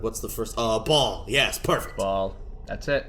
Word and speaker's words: Baal: what's the first uh ball yes perfect ball that's it or baale if you want to say it like that yeah I guess you could um every pronunciation I've heard was just Ball but like it's words